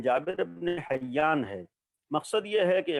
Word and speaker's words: جابر بن حیان: امام سے سیکھے تھے۔ اگرچہ آج ان کا نام بھی جابر کے بجائے گیبر ہے یا دوسرے تلفظ جو کیا جاتا ہے، لیکن جابر ابن حیان ہے۔ مقصد یہ ہے